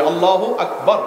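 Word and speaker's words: الله أكبر: আল্লাহু আকবার উচ্চারণ করার সময় আকবরের রাকে টেনে পড়া ঠিক হবে কিনা? না, ঠিক হবে কেন? তাজবিদের সাথে বলতে হবে আল্লাহু আকবার, আল্লাহু আকবার, এরকম বলা যাবে না।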